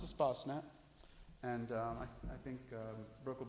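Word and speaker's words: Espacenet: looks like it's spelled East basement but it's pronounced a spa snap and I think Brooke will be showing you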